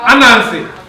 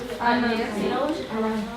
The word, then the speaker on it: Anansi: Anansi. Anansi.